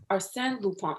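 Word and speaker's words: Arsène Lupin: famous french adventure series arsene lupon am i pronouncing that right yes or sam lupone okay thank you for clarifying that for me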